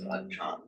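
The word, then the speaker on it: อาจารย์: But under the rules of Thai phonetics, the final r gets pronounced as a n, so it becomes achan. But another rule of Thai phonetics, when you get ch sound in between two vowels, it becomes a j.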